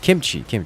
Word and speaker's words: kimchi: Has an E sound at the end. Kimchi, yes, that one.